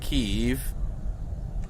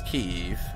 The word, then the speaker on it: Kyiv: it's kiev eve it's it's more like keiv it's a one word that you make two words but i'm it's i have a speech impediment already it's key eve they like make a one syllable word into two parts no they have drones